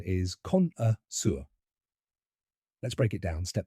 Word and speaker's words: connoisseur: The pronunciation is Connoisseur. Let's break it down step by step. First, con, like contest. Then, just a light, quick sound. And finally, sur, rhyming with fur or sir.